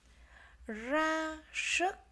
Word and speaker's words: ra sức: Trong từ này các em lưu ý tiếng ra chúng ta phát âm là r, tiếng sức chúng ta phát âm là s. Ra sức.